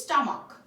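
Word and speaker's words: stomach: করে পরিবর্তন করব আর যদি সি এইচ এর উচ্চারণ ক এর মত হয় তাহলে আমরা শুধুমাত্র এস যোগ করে প্লুরাল করতে পারবো যেমন এখানে এক্সাম্পল দিয়েছি আমি মনার্ক আর হচ্ছে স্টমাক সো এখানে লাস্টে কি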